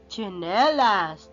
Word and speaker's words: chinelas: Ang tawag natin dyan ay chinelas. Chinelas. Gumagamit ka po ba ng chinelas? Yan, chinelas yan. Yan, magkasunod na konsonant o katinig ay T at saka S. Ch-ch. Ang bigkas niya ay chinelas.